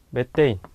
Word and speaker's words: 메테인: 메테인. 메탄 아니에요, 메탄. 옛날 어르신들은 메탄가스라고 하셨죠. 메테인. 그래서 TH 발음. 네, 메테인.